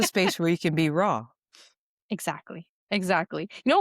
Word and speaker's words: RAA: and that's a space where you can be raw. Exactly. Exactly. You know, we spell it RAA, but it's pronounced raw Raw.